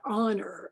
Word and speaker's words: honor: read and write, then they learn the silent H in words like hour, what hour of the day, or the heir to the throne, and honor, and so forth.